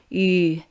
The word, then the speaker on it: ü: Just try to whistle. Keep the mouth shape and tongue position, but instead of blowing air out, you start vibrating a vocal cord to make this sound.